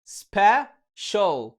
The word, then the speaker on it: special: النبرة دي من الدارك ال بتنطق او، هنضيفها لصوت الاس اتش اللي هو الشين فنقول show، فيبقى نطق الكلمة special special.